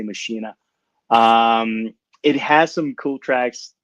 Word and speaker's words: Machina: It's like Machina or Makina, I don't know how they want to pronounce it. I say Machina.